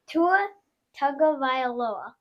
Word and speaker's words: Tua Tagovailoa: Tua Tagovailoa. Okay, good pronunciation.